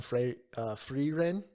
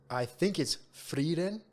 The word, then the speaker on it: Frieren: So I think it's Frieren. Frieren. Not a full roll. Just a flick. Frieren.